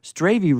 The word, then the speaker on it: Strayve: And remember, Strayve rhymes with gravy.